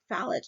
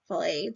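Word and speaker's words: Fallot: deficits let's talk about tetrology of fallet or fet depends on how you pronounce it um this composes of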